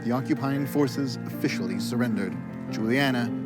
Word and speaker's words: Juliana: But I was like, if you want to know how they would be pronounced in Dutch, it would be Ulana, Batrix, and Marit.